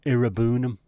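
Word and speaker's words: Iroegbunam: But then there was people having a go at him yesterday because he said Tim Irabunum. He said his name wrong. No, that's actually how you say it.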